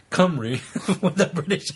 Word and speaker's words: Cymru: She goes on, right on a different note, kudos to you all for getting the pronunciation of Cymru mostly right once I suggested saying Cymru with a British accent.